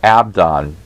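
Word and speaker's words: אבדן: The Hebrew word is Hebrew 12 or H12, and it's pronounced Abdon, and it's from Hebrew 6, a perishing or a destruction.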